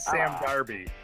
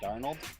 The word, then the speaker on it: Darnold: I said Sam Darby. Sam Darby for Heisman. Sam Darnold?